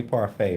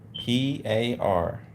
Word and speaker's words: parfait: how to spell that she say parfait right okay the spelling of this word is p-a-r-f-a-i-t she say is parfait so why when we're